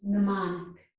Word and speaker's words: mnemonic: So in this word, the letter M is silent. This is mnemonic.